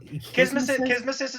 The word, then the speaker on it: kismesis: Is it pronounced like Kismesis is correct.